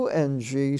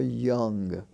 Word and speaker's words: young: teenage youth and y-o-u y-o-u-n-g stands for young how young is he uh it's pronounced as if it were spelled y-u-n-g with the short u but this y-o-u-n-g now